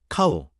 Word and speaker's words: เขา: 카우, 소처럼 와 비슷하게 들립니다.